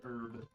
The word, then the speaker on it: herb: pronounce the h yep I don't pronounce the h in herb that's probably because uh